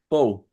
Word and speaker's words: faux: Faux.